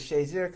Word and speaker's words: Shazier: I think the reason why Jim Frazier's so enamored with Ryan Shazier is Shazier kind of rhymes with Frazier in his mind.